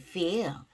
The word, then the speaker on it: feel: 이 feel, F 발음이죠. 발음을 꼭 주의하셔야 돼요. 아랫입술, 윗입 feel, feel.